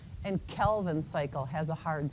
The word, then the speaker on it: Calvin: So the way to remember it for me is carbon dioxide has a hard C and Kelvin cycle has a hard C.